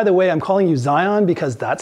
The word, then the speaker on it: Zhiyun: way I'm calling you Zion because that's how it should be pronounced not Gian there's no Jay in it it's a Zed so it's the Zion